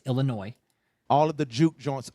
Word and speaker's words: Illinois: Brooklyn Illinois Illinois David the S is silent on Illinois Illinois okay it's Illinois all of the Juke